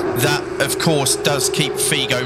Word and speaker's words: Figo: footballer Louis Figo is it Albert oh it's pronounced Figo but uh anyway it's uh it's in the